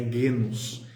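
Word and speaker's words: γένος: eu usei a palavra legos, foi uma falha minha. Na verdade não é legos, é genos.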